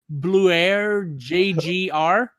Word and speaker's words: BLUAIRJGR: I cannot pronounce this guy's name. Okay, it's Bluer JGR.